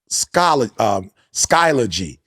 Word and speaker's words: Skyology: So I believe even when Jay sent something and he said, Dad, is called the science of skyology or skyology. Skyology is how you pronounce it.